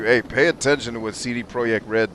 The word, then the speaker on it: CD Projekt Red: pay attention to what cd projekt red does and yes i pronounced it the way they pronounce it trying to show love and respect uh pay attention like